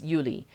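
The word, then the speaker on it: Juli: the moment but um like in English July and in Dutch it's Yuli and it's j-u-l-i versus j-u-l-y like it's this it's the same word it's just a different pronunciation slightly like yeah so I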